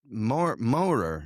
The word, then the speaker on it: Maurer: All right, here we are with Maurer. Is that how you say it? Maurer, yeah.